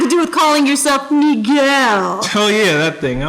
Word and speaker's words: Miguel: wine you chatting with my name's not Michael it's Miguel m i guu e l pronounce it right or we can take